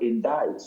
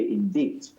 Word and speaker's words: indict: There's another one the word indict. You would read it and some people would say indeed.